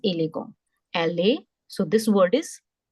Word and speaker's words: élégant: This E with exo aigu is called A. Ele, and the sound of AN is T being the last letter, we just ignore it. So that is élégant.